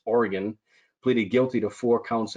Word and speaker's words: Oregon: This was a recent case where a creamery in Myrtle Point, Oregon-- took me forever to pronounce that apparently it's not Oregon, it's Oregon, pleaded guilty to four counts of violating the Clean Water Act.